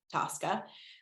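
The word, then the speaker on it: TSCA: so the acronym is actually tsda but people pronounce it Tosca um and Tosca was originally passed in 1976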